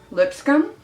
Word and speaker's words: Lipscombe: I enjoy Jordin Lipscombe Lipscombe Lipscombe it looks like Lipscomb but I think it's pronounced Lipscomb she uses concealer and